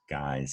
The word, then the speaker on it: guise: what's going on guys that guy's also has a silent u so look at both words guys here right back to